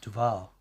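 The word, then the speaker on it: Duvall: a muggy hot dual where is duil it's pronounced Duval Duval is that the way phone Jacker would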